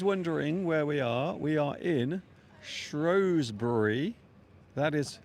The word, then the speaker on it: Shrewsbury: So for those wondering where we are in Shrewsbury. That is how I'm pronouncing it, and that is how everyone from now on will pronounce it as well.